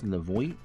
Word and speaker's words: Levoit: I think it's Levoit. That's how you pronounce it.